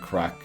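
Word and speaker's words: craic: Crack is whack. Yeah, but it's spelled C A C C R A I C.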